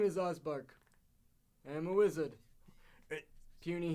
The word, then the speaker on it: Ozbark: that presumably right no they just have my name wrong oh my name is osbar I am a wizard puny human yes I